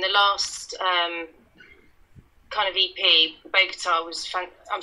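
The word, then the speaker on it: Bogotá: And the last kind of EP, Bogota, was. I'm saying it wrong, aren't I? No, it's Bogota.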